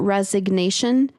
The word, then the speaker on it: resignation: Which is, I like that in the noun form, resignation, the G is pronounced.